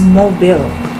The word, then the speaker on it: Mobile: a capital letter this is pronounced differently it's pronounced as mobile so mobile is a city in alabama usa let's proceed